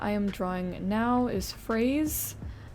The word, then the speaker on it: Phrase: am drawing now is Phase it sounds like phase as in like strawberry and French but it's spelled like p h r a s e um so like a